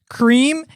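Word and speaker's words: crème: However, it is still pronounced the same as the original French word. Yes, creme and creme are synonyms.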